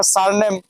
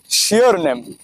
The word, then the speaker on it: surname: তিনি এটার উচ্চারণ করলেন হচ্ছে সিওর নেম। আমি পুরাই অবাক হয়ে গেলাম যে কার কাছে আসলাম একটা টিকিট কাটার জন্য যে কিনা স্যারনেমকে বলছে শিওর নেম সো বাংলাদেশের এই হচ্ছে